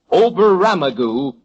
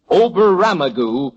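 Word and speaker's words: Oberammergau: Number seven, Oberamagu is in Peru. Oberamagu capital OB E R A M M E R G- A-U Oberamagu is in Peru.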